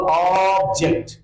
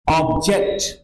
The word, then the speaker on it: object: ऐसा दिया हुआ है तो हम बोलते समय इस पर जोर डालेंगे और यह उच्चारण होगा ऑब्जेक्ट और जब हम इसको वर्म के रूप में इस्तेमाल करेंगे तो स्ट्रेस य होगा स्ट्रेस क्या ज पर होगा ये है ऑब्जेक्ट ऑक्ट